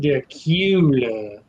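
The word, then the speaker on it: Dacula: into it and said, "It's pronounced Dracula." Dracula. And then I'm saying, well, when I move here, I'm putting an R in the word, whether you like it or not.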